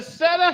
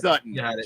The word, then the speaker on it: Sutter: It's Sutton. It's Sutton. 2 T's. No, it's Sutter. Sutter. Sutter? Yeah. Sutter? Sutter. Oh God, that sounds like Stutter.